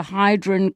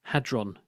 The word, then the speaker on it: Hadron: People accidentally muddle up the word so they get the R and the D in the wrong order and then it comes